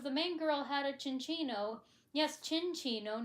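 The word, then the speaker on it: Minccino: So, like, you apply the Italian way of pronouncing it like you would a cappuccino.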